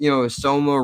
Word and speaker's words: Soma: I'm gonna yell at you, and I'm gonna tell you how this medication is soma rhymes with coma.